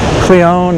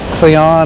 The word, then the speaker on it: Cleone: I'm saying it right it's CLE e o n e so it's cleone or Cleon or Cleon but anyway that's